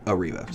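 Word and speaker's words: Airriva: checking out air riva ariva air riva it's spelled air riva but it's called ariva so there's something in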